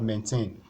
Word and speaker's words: maintain: the first one so you have maintain maintain so put your hand on your chest you see that it has two syllables so maintain so the since it's a verb you have to stress the second part so the first part